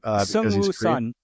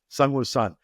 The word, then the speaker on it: Seungwoo Son: I'm going to have to ask you to pronounce Seungwoo's name. Seungwoo Son. Seungwoo Son.